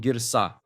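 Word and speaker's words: גרסה: It's called girsa. Girsa. That's how you say it.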